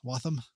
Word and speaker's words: Waltham: Yeah, Waltham. Wam. I don't know. It's Massachusetts. It's not pronounced how it's written, you know.